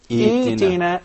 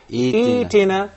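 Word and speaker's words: ائتنا: But when I begin with the word i'tina, then I will exchange the second hamza into a mad letter and I will say i'tina. Excellent. And I will say what? i'tina.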